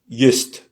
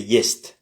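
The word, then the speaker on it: есть: S'il n'y avait pas le miakiznak, le signe mou, on aurait dit just, just. Mais c'est jest, jest, t. C'est pas te, c'est t. C'est mouillé, c'est adouci, voilà. Adouci la consonne avant.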